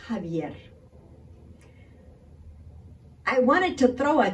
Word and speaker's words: Xavier: the teleprompter and she says California Attorney General Xavier Becerra piece like nails on chalkboard because the Attorney General's name is pronounced hub yet I wanted to throw a chancla at my